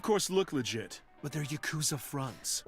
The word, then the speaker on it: Yakuza: Why is everyone pronouncing it as Yakuza? It's not, it's like, it sounds like Jacuzzi to me. So every time they say Yakuza, I'm just thinking of a bad Yakuza.